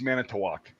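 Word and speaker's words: Manitowoc: they're like uh and I'm like it's mana toak and they're like whatever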